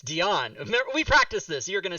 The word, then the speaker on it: Dionne: and by the way last name is pronounced Deon not Deon no it's it's Deon we practiced this you're gonna say that to